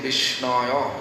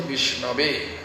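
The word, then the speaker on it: विष्णवे: Murkho badoti Vishnaya. It is wrong. Vishnu is wrong. Dhirang badoti Vishnave means intellectual, studious people, they may say Vishnave. It is right.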